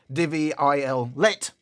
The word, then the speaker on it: Devialet: Otherwise, you'd be saying Devialet, but it's not. It's Devialet. Although I think there's a matter of debate, if you're not French, how you pronounce that.